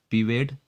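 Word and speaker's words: pervade: तो मैं बता दूं, यहाँ आर, जहाँ जितने भी आर हैं पूरे आर साइलेंट हैं। तो इसे बोलेंगे पीवेड, इसे बोलेंगे पीमेट, लेकिन इसे बोलेंगे पकलेट।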